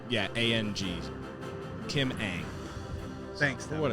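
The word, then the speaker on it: Kim Ng: what it's all about uh also the correct pronunciation of kim's name is kim aang saw an interview like yeah a-n-g kim aang thanks for what it's worth that was a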